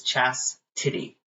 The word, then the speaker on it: Chastity: spelling it and they do Chastity but it's Chastity that's that's the correct way to say my